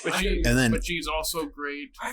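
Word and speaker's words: Saldaña: How do you say it? Saldana. Okay, because it's got the accent over the end.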